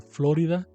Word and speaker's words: Florida: porque los freeways de Florida con la sílaba tónica en la o y no en la i como se decía en México esos topes que estaban